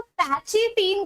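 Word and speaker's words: pachytene: अब पैकिटीन को पैकिटीन अगर आप प्रोनाउंस नहीं करना चाहते तो पैचिटीन करके भी प्रोनाउंस कर सकते हो, ये आपके ऊपर है। याद रखने की एक मतलब ट्रिक बता रही हूँ कि पैचिटीन मैं क्यों बोल रही हूँ, क्योंकि यहाँ पर पैचअप जैसा सिनेरियो क्रिएट हो रहा है।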